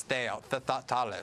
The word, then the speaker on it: Thales: and then in France, the leading one is Thales, is the French pronunciation, I believe.